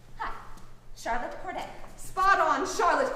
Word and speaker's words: Corday: you tell us your name right hi charlotte cordette spot on charlotte corday a soon to be killer in revolutionary friends